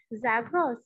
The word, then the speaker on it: Zagros: Mediterranean coast to the, ma'am, how will we pronounce the mountain range? Zagros.